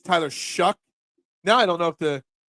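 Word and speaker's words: Shough: Oh, that's how you pronounce the quarterback drafted by the Saints. Gotcha. Shuck.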